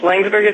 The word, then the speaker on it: Laingsburg: Did I pronounce that right, Dr. Brendan? Yes, Laingsburg is correct.